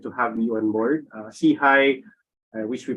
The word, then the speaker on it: SIHI: are absolutely delighted to have you on board see hi I wish we pronounce it as c i stands for social